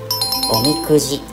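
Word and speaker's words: 御神籤: 正解はおみくじ。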